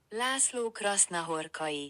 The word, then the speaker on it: László Krasznahorkai: Krasnahorkia. Krasnahorkia. Laszlo Krasnahorkai. No sé. A ver. Este es el audio de cómo se pronuncia en realidad. László Krasznahorkai. László Krasznahorkai. Laszlo Krasnahorkai. Tiene que ser con esa cadencia.